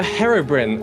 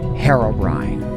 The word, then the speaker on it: Herobrine: and welcome to the Herobrin um so hi guys to recall the storied history of Minecraft's first urban legend Herobrine some say Herobrine some say Herobrin and some even say Herobrine it's impossible to decipher who's